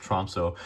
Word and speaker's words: Tromsø: The day after Christmas, I'm going down to, I believe it's pronounced Tromsø, but the Arctic Circle in Norway to go